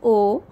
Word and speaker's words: au: A-U. Pronunciation is O.